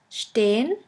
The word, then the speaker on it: stehen: The next letter combination is SP, SP, ST, ST, which is pronounced like the letter combination SHP and SHT. Let's have a look at the examples. The first word is sprechen, sprechen, which means to speak, and the second one is stehen, stehen, which means to stand.